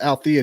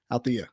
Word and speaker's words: Alethea: So let's get tonight's guest, Miss Alethea. The E is silent.